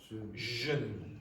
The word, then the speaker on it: jeune: So the pronunciation of this is not sh, it's zh, like that. Jeune, jeune.